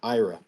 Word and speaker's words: Ira: onchain and offchain with era and Gan BR good evening gentlemen good evening evening thanks for having us I I my name is actually pronounced Ira Ira I'm I'm sorry no